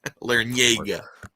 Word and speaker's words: Larrañaga: Larrañaga. You pronounced it right.